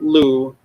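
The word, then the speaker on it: Lugh: play that's l-l-e-u this name is probably related to the welsh name lou l-u-g-h but and he also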